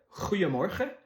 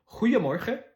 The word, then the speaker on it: Goeiemorgen: Goeiemorgen. Les G en hollandais, c'est plus des sons de R. Goeiemorgen.